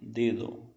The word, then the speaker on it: dedo: Em português eu leio o dedo, né? A gente sempre esse O vira um U, nós brasileiros falamos dedo. Em espanhol seria dedo, dedo. O O sempre tem som de O, sempre, dedo, sim?